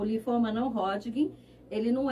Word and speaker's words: Hodgkin: A pronúncia é essa mesmo? Linfoma não Hodgkin.